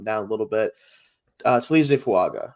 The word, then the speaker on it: Fuaga: a little bit uh fuaga or fanga actually we found out so with an N it kind of sounds like there's an n in there I found out recently is how you say it um out of